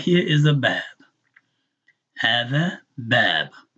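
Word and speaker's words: باب: right here is a bab. Hada bab, right? So if you're not reading Arabic and you're writing phonetics, just write a B, two A's and a B, or whatever will help you pronounce it, and start learning this to be a bab.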